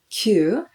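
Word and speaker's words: 九: The Buddhist term for suffering is ku, and we do not want to bring more suffering into our life, so we try to avoid pronouncing this term ku, so we count kyu, and there are some special cases.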